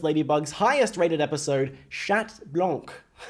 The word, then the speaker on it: Blanc: I recently did a video watching Miraculous Ladybug's highest rated episode, Chat Blanc. Why did I go so French? I mean, it's how you say it, but Blanc.